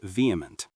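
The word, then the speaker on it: VHEMT: The voluntary human extinction movement or VHT pronounced vehement.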